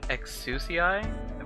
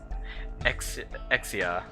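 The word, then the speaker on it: Exusiai: horns uh let's see i pronounced her name exsusii but it seems like the japanese pronounce her name exia anyway there's kind of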